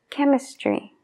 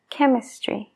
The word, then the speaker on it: chemistry: latín o el griego la ch en palabras que tienen ese origen se suele pronunciar como K Entonces tenemos ejemplos como química chemistry chemistry no es chemistry lo